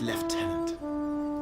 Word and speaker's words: lieutenant: I, Vanson Constantine, have assumed command and have designated Tomar Flegov as left tenant. Left tenant? That Why did you spell it lieutenant when you say left tenant?